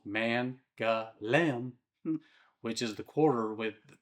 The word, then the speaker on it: Mangalem: There's Mangalem, pronounced Mangalem, which is the quarter with those famous white Ottoman houses climbing up that hillside.